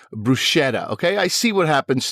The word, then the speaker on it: bruschetta: If you want to pronounce it the correct way, it is bruschetta.